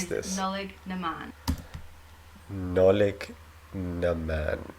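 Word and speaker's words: Nollaig na mBan: Nolig Naman. Nolig Naman. Okay, so the B is silent.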